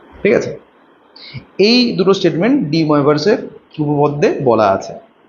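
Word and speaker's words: de Moivre: এর উচ্চারণ হচ্ছে ডি ময়েভার্স থিওরেম, ঠিক আছে?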